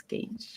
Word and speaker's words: gauge: would be gauge again I always said gge but it's gauge it's it's very it's